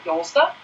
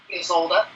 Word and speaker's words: Ysolda: These are the Cadoce by Yolda. Ysolda.